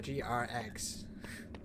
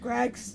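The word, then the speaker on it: Greggs: Hi, you gotta, if you like eggs, guys, you gotta go to GR Eggs. It's pronounced Greg's. It's Greg's.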